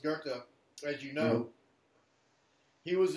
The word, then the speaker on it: Goethe: conscious in some way Johann Goethe goe tig pronounced Goethe read you know he was a naturalist and